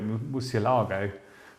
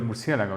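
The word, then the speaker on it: Murciélago: is the Murcielago or some people call it mu CLR guy we call it mu CL ago in Spanish it's Spanish for bats by the way first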